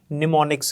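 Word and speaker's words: mnemonics: इसमें एम जो है ये साइलेंट होता है, आपने इसको निमोनिक्स पढ़ना है।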